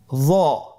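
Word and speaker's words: ظ: য। একটু মোটা করে বলতে হবে। হরফটি হলো মোটা হরফ, বারিক করে পড়া যাবে না এবং হরফটি উচ্চারণ করার সময় অবশ্যই 1 আলিফ টেনে পড়তে হবে।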